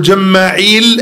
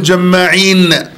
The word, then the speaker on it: جماعيل: الاسم الى هذه الايام لكن حصل مع الزمن تغيير يسير في نطقها بدل يقول جماعيل الان يقولون جماعين ييت المقد المقد المقد جماعيل جماعين ويبد ان هذا يعني شيء معروف عن اهالي تلك البلاد فحتى اسماعيل يقولون اسماعيل بالنون اسماعيل اسماع توفي رحمه